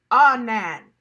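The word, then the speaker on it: ענן: Times in the original Hebrew is pronounced anan.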